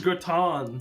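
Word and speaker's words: gratin: looks like the like is gron the famous French dish famous how the do I spell that you you said a French word g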